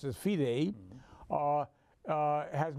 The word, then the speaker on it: FIDE: The World Chess Federation, which is more commonly known by its French acronym FIDE, which we pronounce as FIDE, uh uh has not yet determined who is going to host that event.